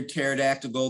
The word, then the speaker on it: pterodactyl: why can't you hear pterodactyl the bathroom because the p is silent it's because they're extinct